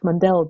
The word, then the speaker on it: Mundell: Munnell, when he admits, he calls himself Mundell, but he comes from, his name is pronounced Munnell, but he doesn't seem to like that for some reason.